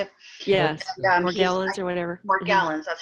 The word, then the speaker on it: Morgellons: Morgellons, that's how you say it.